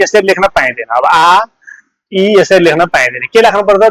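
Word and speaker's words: 아이: अब के भयो त यो चाहिँ आ सरी आ इ भयो है आ इ यसको उच्चारण कसरी हुन्छ साउन्ड पनि सुनिहालौ है त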